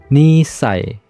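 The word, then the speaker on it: 二歳: Contohnya umur 2 tahun itu dibacanya nisai.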